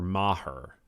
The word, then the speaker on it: Maher: that for example is Bill Mah and it's not it's not spelled it's spelled Mayer or Maher Bill Maher but it's Mah so that it's sort of it's French um he is a